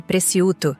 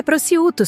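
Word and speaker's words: prosciutto: Fernanda fez questão de corrigir minha pronúncia de preciuto na frente do garçom. É prouto, sogra. O c é mudo.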